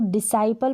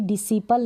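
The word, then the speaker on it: disciple: यहाँ पर इसको डिसाइपल पढ़ेंगे, इसको कभी भी डिसिपल ना पढ़ें। शिष्य जो होते हैं उनको इंग्लिश में हम बोलते हैं डिसाइपल, ना कि डिसिपल। तो प्रोनाउंसिएशन इसका गलत होता है अक्सर, इसलिए मैंने उच्चारण लिखा है हिंदी में कि डिसाइपल पढ़ें, ना कि इसको डिसिपल पढ़ें।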